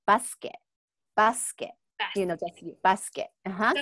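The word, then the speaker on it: バスケット: In the basketball one, is the U silent? It's again silent. Okay. Yes. So I think sometimes those like U sound becomes really, really light. Okay. It depends where the sound kind of shows up, you know?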